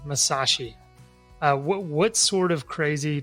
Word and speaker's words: Masaschi: um didn't even try um but mainly like Shashi um M Mas Shashi um but never it's never right so I just let people call me what they want did I say it right Masashi yeah okay it's like you're right should have